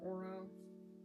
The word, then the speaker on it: Aura: I think it's pronounced Aura or Oro. No, it's like Oro like Aurora.